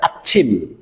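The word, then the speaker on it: 아침: উঠি আচ্ছিম আচ্ছিম আচ্ছিম এটিকে আপনি আছিম বললে ভুল হবে উচ্চারণ করতে হবে আচ্ছিম আচ্ছিম আচ্ছিম অর্থ সকাল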